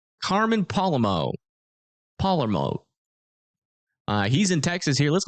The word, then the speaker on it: Palermo: But Carmen, how do you pronounce his last name again? Palermo. Carmen Palermo. Palermo.